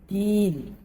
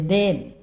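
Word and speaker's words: يوم الدين: Din. Jangan sampai meleweh bacanya. Yaumiddin atau berlebih. Menjadi satu kesalahan. Yaumiddin, baris kasrah dibaca din, tak boleh den.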